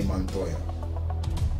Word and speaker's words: Montoya: could have played uh renee montoya see how i rolled that r yeah i gotta roll that so next on the